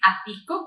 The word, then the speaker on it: Atyco: No puedo pronunciar. ¿Cómo es? ¿Cómo es? Es Ático, Asesores Tributarios y Contables.